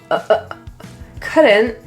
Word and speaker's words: couldn't: The T in couldn't is a glottal T. That means it is kind of stopped in the throat. Couldn't be.